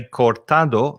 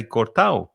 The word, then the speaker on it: cortado: it also exists because many people don't say cortado they say cortao they don't say koniado